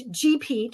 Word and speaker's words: GPEAT: Uh and that's GPET for our acronym which rhymes with three repeat which is what we